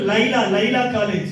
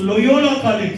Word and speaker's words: Loyola College: I told Laila College. నేను అన్నాను Laila కాలేజ్ అన్నాను. But the real name is Loyola College.